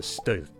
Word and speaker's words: stød: A little hiccup with a bold name, a punch, shock, or blast, is a stød.